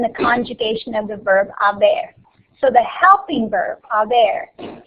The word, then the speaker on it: haber: you're going to conjugate haber in the present and then use the past participle. So these are the conjugations of haber. Has, ha, hemos, habéis, han. When pronounced, the H is silent.